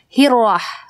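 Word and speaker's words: الرحمن: sudah lam jadi bacanya langsung hirohman bukan dehil roh bukan ya Iroh jadi alif lam syamsiah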